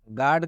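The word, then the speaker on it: guard: जब भी यू के बाद कोई वॉवेल आता है तो यू का उच्चारण हम लोग नहीं करते हैं। गार्ड का मतलब होता है रक्षक।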